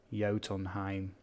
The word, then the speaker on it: Jotunheim: you for that projects there's a J in jotonheimer's pronounced as why okay yotonheim okay right um Triassic enclosure